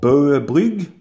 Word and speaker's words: Bögebryg: ales and this is called burger blue in Danish with Danish pronunciation there and it is a